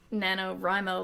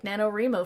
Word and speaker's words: NaNoWriMo: I also said NaNoWriMo like NaNoWriMo for so long until someone pointed out that it's writing, so it's NaNoWriMo.